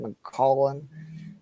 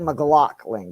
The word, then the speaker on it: McLaughlin: McClellan. McLaughlin? McLaughlin. Jaleel? Thank Yeah. you. Yeah. So it's like McLaughlin.